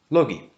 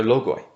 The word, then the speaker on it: logoi: And we say that those natures are logi, or logoi, in Erasmian pronunciation.